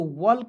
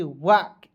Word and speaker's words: walk: उसके बाद देखेंगे WALK, तो वल्क नहीं पढ़ेंगे, इसे पढ़ेंगे वाक, एल को साइलेंट कीजिएगा।